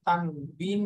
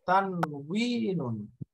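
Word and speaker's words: تنوين: এই জন্য বাংলাতে অনেক সময় তানবিন বলে, তানভিন বলে, এরকম বিভিন্ন ভাবে বাংলা উচ্চারণ লেখে, কিন্তু আরবি উচ্চারণটা হলো এরকম তানউইনুন, তানউইনুন।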